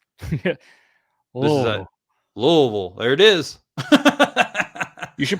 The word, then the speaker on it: Louisville: You got to just roll everything together. Louisville.